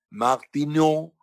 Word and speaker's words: Martineau: Eso es importante también, que yo le mencioné que Harriet Martineau, se escribe H-A-R-R-I-E-T, Harriet Martineau, Martineau en francés, Martineau.